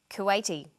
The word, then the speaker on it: Kuwaiti: Chinese Vietnam Vietnamese then there's the i group pronounced e Bangladesh Bangladeshi Kuwait Kuwaiti and some nationalities are formed